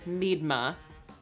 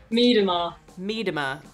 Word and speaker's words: Miedema: because we've said it meedma but the announcers all say it differently how do you say how do you say it nelly me tomorrow more emphasis on the e need them all all